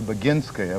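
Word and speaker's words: Boginskaya: have an enormous respect for baginskaya which is the correct pronunciation of these difficult russian names she's a wonderful gymnast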